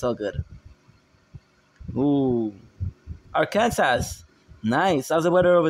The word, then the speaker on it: Arkansas: guess i can't even quit am i or khan sauce i'm french bro that's why ah that makes sense you'll teach me the proper way when you when we play together arkansas ah the pronunciation oh bro those people uh